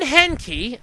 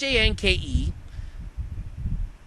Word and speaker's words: Hanke: John Henke, which I don't even believe I'm pronouncing that right, it's Hanke, talks to disappointed attendees at last Saturday's Pokemon Go event.